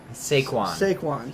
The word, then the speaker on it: Saquon: Saquon.